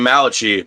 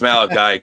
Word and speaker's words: Malachi: Wiso here pronounced your name Malachi, but I told him it's Malachi because he's just English is a second. Yeah, it's Malachi.